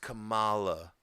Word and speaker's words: Kamala: It's pronounced Kamala.